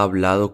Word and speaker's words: habla: Yo hablo de esto y ella habla de eso. Notice that the stress of these words is on the first syllable, which sounds like ab. The part that changes doesn't get stressed.